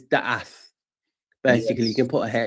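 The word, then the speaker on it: דעת: have many, many labels, it's called da'ath or da'eth. It's spelled a few different ways, D-A-A-T or D-A, you know, it's spelled a few ways, but it's da'ath.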